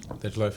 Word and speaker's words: Dej Loaf: Dej Loaf, yeah.